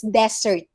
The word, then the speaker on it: desert: this one it's dessert if it has single s it's desert if it's dessert then it